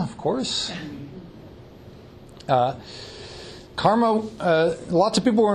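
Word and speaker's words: CCRMA: computer research in music and acoustics which is pronounced karma of course karma uh lots of people were involved in its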